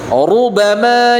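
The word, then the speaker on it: رُبَمَا: maka harus hati-hati Pak ru ru beda ru tipis sama ru tebal rubama yawaddadina kafaru kafaru lauu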